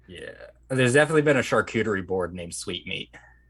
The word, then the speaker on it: charcuterie: There's definitely been a charcuterie board named Sweet Meat. Is that how you say that word? Yeah, charcuterie.